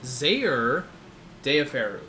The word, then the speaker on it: Zaire Deyoferu: to the z stream my name is zaire deyoferu that's how you pronounce it but most just call